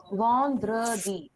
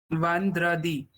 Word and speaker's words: vendredi: Vandri, Vendredi. Repeat. Vandradi.